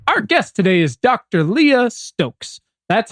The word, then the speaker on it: Leah Stokes: let's do it our guest today is Dr Leah Stokes that's how you pronounce it and together we're asking uh folks